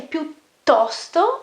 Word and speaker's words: piuttosto: Also here the pronunciation piuttosto, again the double T as in tutto, okay?